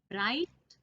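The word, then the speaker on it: bright: इन words में हमें जी एच दो अल्फाबेट्स हैं, दो लेटर्स हैं जिनकी साउंड हमें नहीं आ रही। So these are our silent letters. क्योंकि जिन लेटर्स की आवाज बोलते समय नहीं आती है उन लेटर्स को हम साइलेंट लेटर्स कहते हैं। ब्राइट में भी और ब्राइटर में भी जी एच साइलेंट लेटर्स हैं।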